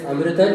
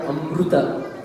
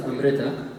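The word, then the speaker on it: अमृत: So it's amrita, not amruta. Some people pronounce it like a ru or a ri, right? It's its own thing. It's not amrita, it's not amruta, it's amrita.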